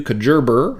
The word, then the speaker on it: Kajabi: Okay, Robin Colucci, awesome last name, says, I'm wondering about the new Kajerber, that's the proper pronunciation.